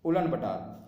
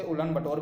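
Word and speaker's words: Ulaanbaatar: इसे उलन बटोर भी कहते हैं, हिंदी में इसे उलन बटोर कहते हैं, पर इसे इंग्लिश में उलन बटार कहा जाता है। अब दोनों इसकी प्रोनाउंसिएशन जैसे ही बोल सकते हैं इसका।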